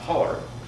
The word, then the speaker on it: hollow: the Appalachian Mountains however the word is pronounced holler and is used to